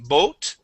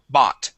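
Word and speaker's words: bought: word bot okay um the the o u g h here makes an a sound okay okay so instead of saying boat it is B bot try that please bot good one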